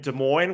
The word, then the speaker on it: Des Moines: he's only playing Wednesday, Thursday in Des Moines, where the S's are silent, and then he's going to Pittsburgh, and you could pronounce the S's in that one.